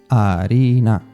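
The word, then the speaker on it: harina: the middle Arena flower Arina same tip as before the H at the start of the word is not pronounced pan bread pan vinagre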